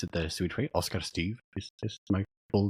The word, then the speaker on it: Oscar Styf: and so I'm Oscar if you want to pronounce it the swed way Oscar Steve this my full name I'm Swedish originally but